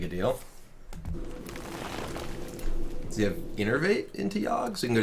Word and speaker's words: Innervate: Why don't no streamers pronounce Innervate correctly? I do pronounce it correctly. It's Innervate.